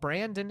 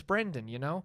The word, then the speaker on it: Brendan: Because, I hate getting called Brandon. It's Brendan, So Kamala, I'm sorry.